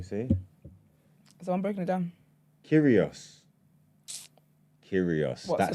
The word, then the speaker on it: Kyrgios: Kyrgios. What's That the sounds bird? like him. Who said it? It was No, they have the them, G yeah. is silent. The G is silent, like lasagna.